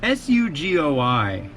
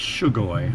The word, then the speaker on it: Sugoi: service called, it's spelled S-U-G-O-I, Sugoi Mart. I don't think it's Shugoi. I think it's Sugoi.